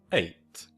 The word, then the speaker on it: eight: And again the GH is silent and it's pronounced a like in eight.